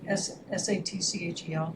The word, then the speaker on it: Satchel: Just spell it. S-A-T-C-H-E-L.